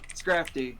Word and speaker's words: Scrafty: I keep forgetting how to pronounce his name. He's very big. Scrafty? Is that it? I think it's Scrappy. Scrafty.